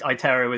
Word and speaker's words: iTero: iTero is the right pronunciation.